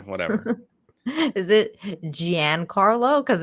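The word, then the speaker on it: Giancarlo: and everything he was like top tier um Gian Carlo that's how you say it okay Gian Carlo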